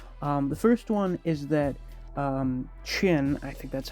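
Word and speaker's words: Qin: And Chin, it's a Q.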